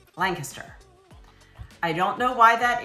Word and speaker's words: Lancaster: And if you want to be local and you want to be one of us, then you'll say Lancaster. All right? You don't have to pronounce every syllable.